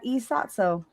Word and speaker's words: E.Sotso: So I said, I wonder if I can pronounce that. So is Sotso a name or a word, or what does it mean? It's an acronym. It's an acronym. So so I was like, oh, okay, I can pronounce that E.Sotso.